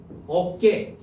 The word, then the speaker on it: 어깨: 두 모음 사이에서 나는 된 소리예요. 확인해 볼까? 자, 남자들 뭐 여자고 남자고 어깨 어깨라고 해. 어깨라 그래. 어깨라 하지. 여기는 쌍기억으로 표기가 됐네. 된 소리가.